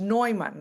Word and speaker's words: Neumann: And by the way, my surname is pronounced Neumann, like Freud. Okay, Neumann.